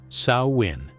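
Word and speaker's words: Samhain: They called it Samhine, pronounced Sawin.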